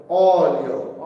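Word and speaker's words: olio: লবণ লবণ অলিও অলিও অলিও না অলিও অলিও কারণ অলিও কেন অলিও বললে আমি প্রথম ওটারে উচ্চারণ করলাম অরের ওটার উচ্চারণ করলাম ও ও অলিও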